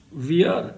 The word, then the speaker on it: weir: And WEIR, weir, it's actually pronounced as weir.